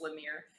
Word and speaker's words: Lemire: It's Lemire. And Dustin, name I cannot fucking pronounce.